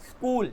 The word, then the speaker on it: school: लेकिन कहीं पर यस आ जाए तो उसे सा बोलते हैं, आधा सा. कैसे? स्कूल.